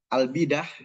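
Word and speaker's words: البداح: Nah, Bapak Ibu sekalian, Albidah ya atau Abdullah ee Muhammad Nasir Albidah memang dalam tulisannya Albedah tapi kita bacanya albidah karena ini ee dari bahasa Arab.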